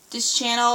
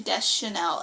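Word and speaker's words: Deschanel: or so I always for the longest part almost said um this Channel or whatever but I think it's actually Des Chanel every time I hear someone else say it they say it like that so I'm taking that's how you say it um but She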